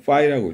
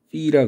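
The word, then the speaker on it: φ: 이거 읽을 때는 파이라고 읽어요. 파이. 그리스 사람은 피라 그러고. 아니 그리스어인데 왜 그리스 사람이 하는 발음을 안 따라하냐? 그러게. 근데 대부분의 사람들이 다 파이로 잘못 발음하고 있어서 그냥 그게 굳어졌어요. 그래서 국제적인 만남에서는 그리스 사람들도 억지로 틀린 줄 알지만 파이라고 발음을 할 것도 같은데 내가 본 그리스 사람은 피라 그러더라고.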